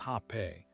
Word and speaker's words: Rapé: Rapé, pronounced Rapé, is the sacred Amazonian snuff.